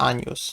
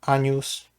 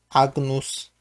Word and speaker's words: agnus: albo co i tutaj jako przykład podaje anos No czyli owca oczywiście powtarzam wymawiam po włosku a News można też wymówić oczywiście po innemu agnus więc a News to